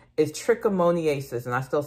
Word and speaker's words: trichomoniasis: we're going to be going over the correct pronunciation is trichomoniasis, and I still said it wrong, but you know what I'm talking about.